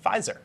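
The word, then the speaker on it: Pfizer: by the pharmaceutical company fizer is that how you say it anyway a PE silent it looks like well if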